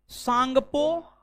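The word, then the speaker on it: Tsangpo: एक नंबर में, एक नंबर में ITSZ, Indus, सांगपो, Sachar, John, full form है। ITSZ कॉस्ट में Indus, सांगपो, Sachar, John. T silent है।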